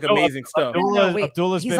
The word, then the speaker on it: Abdullah: How do you pronounce Abdullah, the person's name? Abdullah.